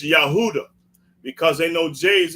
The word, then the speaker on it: Judah: Johnson James no you have to yeah uh Judah it's yahudah instead of Judah so yeah but but by